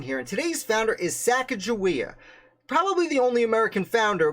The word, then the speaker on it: Sacagawea: j or a k i am pronouncing it with a j sound however i do this